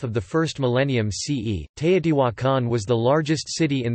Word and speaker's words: Teotihuacan: Teotihuacan, in Spanish, Teotihuacan, Spanish pronunciation, Teotihuacan, listen, modern Nahuatl pronunciation, is an ancient Mesoamerican